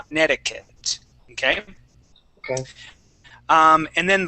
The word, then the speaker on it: Connecticut: connect Connecticut but uh as you know we don't pronounce things the way that we spell them quite often Conneticut okay okay um and